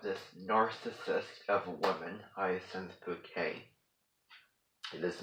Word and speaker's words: Bucket: show is her name is spelled b-u-c-k-e-t so what does that spell bucket right um but consider it almost taboo and considerate a curse word when you're around in Christ because she wants it pronounced bouquet because after all elegant